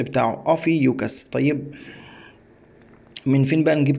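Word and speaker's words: Ophiuchus: حامل الثعبان حامل الثعبان حامل الثعبان ده اسمه النطق بتاعه اوفي يوكس طيب من فين بقى نجيب كلمه الحين في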